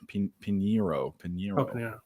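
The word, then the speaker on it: Piñeiro: and I'm trying to pull up the money line for uh I don't know how to pronounce his name Dave yeah sorry sorry p-i-n-i-e-r-o piniro over one and a half field goals and on BET online it's one plus 150.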